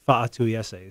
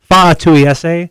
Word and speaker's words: Fa'atuiese: the fall is Vika Fa'atuiese. That's how you pronounce his name for everybody out there who is having trouble with that one. Fa'atuiese. Yeah. It's Samoan. You got that apostrophe in there.